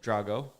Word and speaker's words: Drago: What's his first name? Drago, Drago? like the guy from Rocky IV.